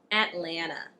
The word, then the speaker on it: Atlanta: And the second T in Atlanta. I actually didn't pronounce the T at all.